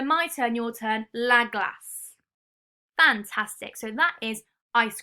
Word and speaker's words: glace: And the French for this is La glace. la glace. La glace. La glace. Fantastic. Now you can see that it has got the C and the E grapheme, making this s, la glace.